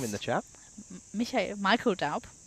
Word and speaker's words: Michael: Michael Daub. You were going to go very German with that then. Michael. Well, he is German. So. Yeah, exactly. So is that how he would pronounce it?